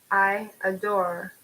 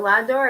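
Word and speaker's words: J'adore: interesting name so like I adore so it's not La door it's iador seriously I've been saying it wrong all along it's at the eye oh my God I'm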